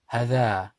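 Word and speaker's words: هذا: says ha, dha, hadha, hadha. But because of that rule, we say hadha. What's the rule? The rule is there is an alif after the ha which is pronounced but not written.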